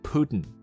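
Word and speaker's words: Путин: 他的后面那个音节很短，Putin，多半是鼻音带过去。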